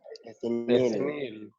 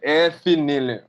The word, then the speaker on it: ethenyl: Ethene. Ethene? Ethene. Ethene. Ethenyl. Voila. Those people that were asking for pronunciations, it is ethenyl, Monville. Ethenyl. So it will be ethenyl.